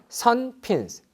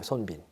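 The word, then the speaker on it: 孫臏: 보면 뭐 나오냐면 선핀스, 스트래터지야. 선핀, 요게 이제 그 중국어 발음을 갖다 영어로 그냥 그대로 흉내내는 게 선핀이고요. 요걸 갖다 우리말로 바꾸면 손빈이에요. 손빈.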